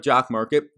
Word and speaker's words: Jock MKT: to be jock marketing if you're not familiar with jock market jock mkt is spelled be sure to check